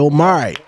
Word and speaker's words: Yomari: Yomari.